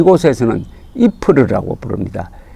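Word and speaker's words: Ieper: 열로 표기로 는 y pres 잎을 s 이렇게 발음이 되는데 이 곳에서는 이 푸르 라고 부릅니다 이 풀을 하면은 저 전사에 관심을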